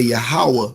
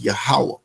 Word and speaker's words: Yahweh: is not his name, or you could say Yahweh is how it's pronounced. People say Jehovah or Yahweh or whatever, but in the Hebrew, in the ancient Hebrew, is pronounced Yahweh.